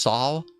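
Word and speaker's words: Sauw: I think her name is pronounced Saw Saw. It's S A U W.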